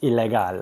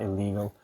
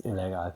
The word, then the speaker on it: Ilegal: It's pronounced Ilegal. I'll show it to you. It's not illegal. It's Ilegal.